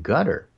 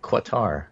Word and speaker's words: Qatar: between Michael Cohen and Gutter. Gutter? I hardly... Qatar. Gutter. Yeah, right. Well, I think you're correct in the pronunciation.